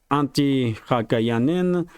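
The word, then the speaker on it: Antti Häkkänen: Politico is reporting that defense minister, during the interview with political defense minister of Finland, Antti Haikanen, that's how you pronounce a name.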